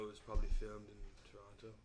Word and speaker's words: Toronto: Um the apps look great even though it was probably filmed in Toronto. Toronto. Toronto. off. Don't pronounce the T.